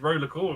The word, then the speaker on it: Roller X Core: So for the PlayStation 2, all the way from Eddie, Roller X Core, otherwise known as just Roller Core with a silent X, we have Johnny Bravo.